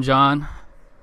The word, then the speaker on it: Gian: welcome, a guy that, his name's pronounced like mine, but, his name's not spelled like mine, Mr. Gian.